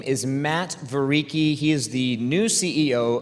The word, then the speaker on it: Vereecke: And let me tell you, his last name was really hard to pronounce. So say it with me, Vereecke. Vereecke.